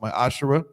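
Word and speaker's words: מעשר: numbers 1821 Malachi 38-10 means 10th in Hebrews pronounced my Asher 10% of any every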